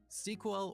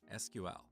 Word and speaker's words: SQL: As you talk to different people, you will hear 2 different pronunciations of SQL: SQL or SQL. What is the correct way? Well, it depends on who you ask. And of course, everybody thinks their way of pronouncing this word is the right way.